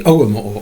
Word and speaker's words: Ogham: the early Irish alphabet the omo organ if you prefer to pronounce it you can pronounce it either way um my intent earlier